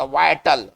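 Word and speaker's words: vital: पढ़ेंगे इसका उच्चारण करेंगे वाइटल ना इसका उच्चारण करेंगे विटल नहीं इसका उच्चारण विटल नहीं पढ़ेंगे वाइटल पढ़ेंगे क्रिटिकल बहुत इंपॉर्टेंट एक्सट्रीमली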